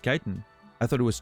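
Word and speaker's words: chitin: you know what I learned today that it's pronounced Kiton I thought it was chitten I always thought it was chitten I always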